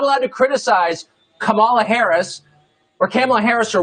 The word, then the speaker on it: Kamala: um hosts on fox her name is pronounced comma like the punctuation mark this guess is correcting